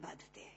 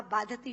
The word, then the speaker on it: बाधते: कष्ट नहीं दे रहा जितना आपके मुंह से बोला हुआ बाधति शब्द कष्ट दे रहा है क्योंकि बाधते शब्द का अशुद्ध उच्चारण आपने किया है यह शब्द बाधते होना चाहिए भारत न बाधती राजन यथा